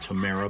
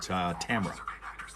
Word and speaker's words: Tamra: Some people pronounce it Tamara, but this particular young lady pronounced it Tamra.